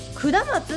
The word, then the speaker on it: 下松: や下松にこれって下松って読むのねこの街はお前